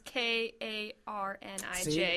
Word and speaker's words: Carnage: But Carnage is Karnij.